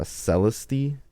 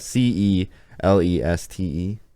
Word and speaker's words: Celeste: one on the list i'm gonna pronounce this wrong i believe but it is one that i'm familiar with i haven't played it i do own it but i haven't played it it's called um uh celesti i think i'm probably not pronouncing that c-e-l-e-s-t-e celeste celeste probably celeste celeste there's